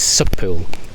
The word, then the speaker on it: Sychpwll: yeah and returned and the big question is the pronunciation of the campsite name i sort of been led to believe an anglicized version is subpool yeah i think that suck pool is the easiest way um but you know